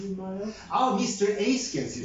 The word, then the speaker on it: Eyskens: Eyskens Yeah, Eyskens, that's how you pronounce it.